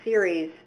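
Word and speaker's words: CERES: question might need to be part of from the same participant, and then add MODIS and MISR layers to the raw series TOT DET data.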